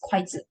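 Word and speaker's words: 筷子: This is because the Chinese pronunciation of chopstick is kuaizi, which is very similar to the Chinese pronunciations of happiness, which is kuai le.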